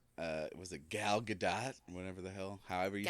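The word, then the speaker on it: Gal Gadot: like uh was it galat whatever the hell however you say I I feel like it's not galado I said it like that for so long I feel like you pronounce the T it doesn't matter it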